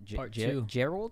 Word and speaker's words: Jarrell: you guys are saying gerald experiments okay how do you spell that j j oh he's supposed to really r e l l something like that yeah it's like barrel and jerry put together i'm gonna be honest